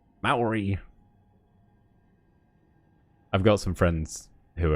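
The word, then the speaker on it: Māori: I can speak English, French, and Treo Maori.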